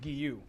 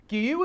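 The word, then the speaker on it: Guiyu: a little bit off i think it's pronounced guillou gyu is a town in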